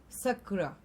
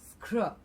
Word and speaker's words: scrub: you say this together scrub and not sakura okay it is not sakra it is scrub all right moving on